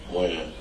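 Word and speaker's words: Wynn: Win. Win? Or Wen?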